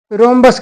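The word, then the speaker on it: rhombus: देखिए दिया है समचतुर्भुज इसे रोमस कहते हैं समचतुर्भुज को इसमें साइलेंट है रोमस वह चतुर्भुज जिसकी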